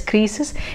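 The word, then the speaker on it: Croesus: back i would put in more wealth than creases creases is a c-r-o-e-s-u-s pronounced as crisis is a sixth century bc king of this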